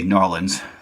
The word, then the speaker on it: New Orleans: David if if I could come down to New Orleans right now or as you say Norland as you told me that's how you pronounce it down there but I can't get